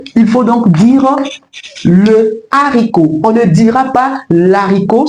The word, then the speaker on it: haricot: On ne dit pas l'haricot, on dit le haricot parce que la consonne H devant ce mot est aspirée. Donc elle est bien présente dans la prononciation de ce mot.